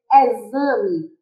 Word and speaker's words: exame: Por exemplo, exame. Exame se escreve com X, mas não apresenta o som de X. Apresenta o som de Z.